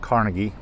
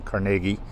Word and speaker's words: Carnegie: Not Carnegie, like many of you might think, but we do pronounce this town Carnegie in Pittsburgh.